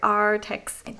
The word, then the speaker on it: Arrtx: They have double R, so I pronounce it like a pirate. Arrtx.